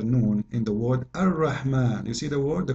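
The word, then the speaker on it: الرحمن: So if we say Ar-Rahman in the Quran, it's coming the alif very short, but you hear me pronouncing the alif, Ar-Rahman. Ar-Rahman. This is not a fatha only, it is a letter.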